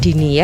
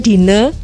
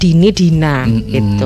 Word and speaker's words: Dinnie: ini kalau nama saya Dini Ya oke jadi Nama saya Dine jadi saya biasanya harus spelling ini karena kadang-kadang tetap dibacanya kalau nggak dingin jadi saya agak nouns